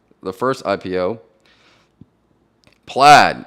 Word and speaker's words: Plaid: Plaid. Now it's spelled P-A-I-D, but I think it's pronounced Plaid.